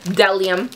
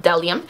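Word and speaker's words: Bdellium: know it's reflecting um so it has a b at the beginning but I guess the B is silent so they are pronounced delium and I have also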